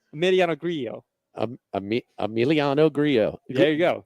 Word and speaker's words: Grillo: Another double L that's pronounced differently, according to the PGA Tour pronunciation guide. Emiliano is 2 L's? That's 1. Right, but okay. Grillo is 2. Back to back. Yeah, Grillo, right. Yes. The double L's are a Y, yes.